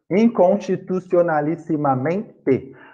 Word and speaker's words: inconstitucionalissimamente: Bom, inconstitucionalissimamente. A sílaba mais forte daqui, a sílaba tônica, é amém. Percebam. Inconstitucionalissimamente. Mente. O men tem uma pegada assim, mente. Portanto, é uma paroxítona.